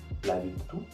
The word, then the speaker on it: virtù: C'est-à-dire que si vous voyez un mot avec un accent grave, vous devez le prononcer en insistant sur la dernière syllabe. Par exemple, il caffè, la città, la virtù, la verità.